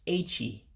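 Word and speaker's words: echi: It's A-Chee. A-Chee for tomorrow. Now again, remember your pronunciation of Igbo. The E makes an A sound and the I makes an E sound.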